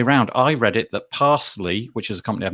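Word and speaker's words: Parse.ly: for pronouncing them because i was reading it pass dot l y and obviously it's parsley and you can see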